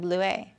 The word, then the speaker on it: Bleuet: Oh, yeah, because the last letter is silent. You're right. It doesn't have a double T-E. Thank you, Allison. Bleuet.